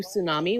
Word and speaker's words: tsunami: We're continuing that like push, that blue tsunami, which is where blue Sue comes from. The T is silent.